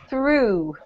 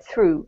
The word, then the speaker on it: through: Through. True. Yep. If you just keep your eye on the chat True. box. Yep, it's pronounced exactly the same as the past tense of to throw. Through.